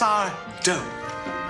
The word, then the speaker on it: Sardo: that is Mr sardo it's sardo no Mister Accent on the D oops sorry there sardo